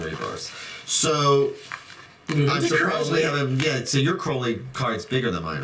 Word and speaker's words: Crowley: your crowley i do mr crowley yes which rhymes with holy see i'm getting it